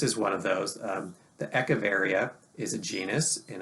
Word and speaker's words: Echeveria: get things changed and moved and people don't spell it right and sometimes that that sticks anyways echeveria is the way you would normally say it or ecaveria and lots of really cool little uh compact